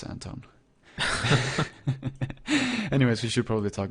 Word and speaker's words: Anton: Yeah, if you lived in Sweden, it would totally be Anton. But you don't, so it's Anton.